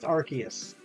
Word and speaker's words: Arceus: the book say about God it says it's pronounced Arceus I'm not sure area will be angry I